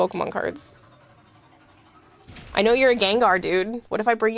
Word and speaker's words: Gengar: Gengar is actually how you say it. Gengar. Did I not pronounce the R enough? Genar.